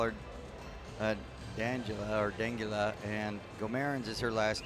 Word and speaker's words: Guimarães: On the other side, it is Denguilel, and it is, I've been told it's pronounced Guimarães.